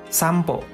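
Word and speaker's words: 散歩: Sedangkan ini ada huruf N kan, ada konsonan N bertemu P di sini biasanya diucapkan juga menjadi M. Contohnya sampo. Sampo yang artinya jalan-jalan.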